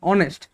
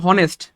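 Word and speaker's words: honest: উদাহরণ আছে, যেমন ধরেন অনেস্ট। অনেস্ট, এবার দেখেন এই যে অনেস্ট, এটা উচ্চারণ হওয়ার কথা ছিল হনেস্ট, কথার কথা, দেখতে হনেস্ট হওয়ার কথা ছিল, কিন্তু এটা উচ্চারণ কিন্তু হনেস্ট না, এটা উচ্চারণ কিন্তু অনেস্ট।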